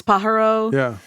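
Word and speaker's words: Pájaro: Um and Pajaro is how you know locally we pronounce it. It's Pajaro.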